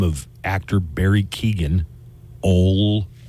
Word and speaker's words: Keoghan: I don't remember Barry Keoghan, or Keoghan, I guess is how you actually pronounce it.